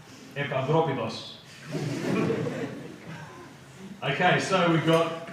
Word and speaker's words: Epaphroditus: I've heard people say Epaphroditus. Put up your hand if you say Epaphroditus. Okay, so we're going to say it right from now on. Okay, you with me? Epaphroditus.